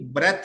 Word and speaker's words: breath: ये जो BREATHE है ना, ये इसकी प्रोनाउंसिएशन, इसकी करेक्ट प्रोनाउंसिएशन बच्चे ब्रीद है। इसकी करेक्ट प्रोनाउंसिएशन ब्रीद है। ठीक हो गया, सांस लेना। जो ये वाला है विदाउट ई, इसकी करेक्ट प्रोनाउंसिएशन ब्रेथ है। ब्रीथ सांस लेना, ब्रेथ खाली सांस, नाउन के तौर पे।